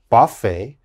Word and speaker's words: buffet: chevrolet and the last one very difficult to pronounce uh this is a buffet buffet and of course a buffet is when you